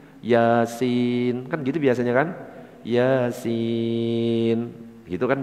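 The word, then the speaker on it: يس: Yasin gitu kan bacanya. tulisan kalau latin ya asin akhirnya dibaca bismillahirrahmanirrahim ya asin betul apa gak ya beda.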